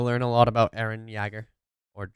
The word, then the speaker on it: Jaeger: And you'll learn a lot about Eren Jaeger. Or Jagger, or whatever you want to pronounce it.